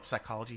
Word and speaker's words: psychology: that be epps no psychology starts with a p much like what i try to do in the middle of the night the p is silent oh wow oh oh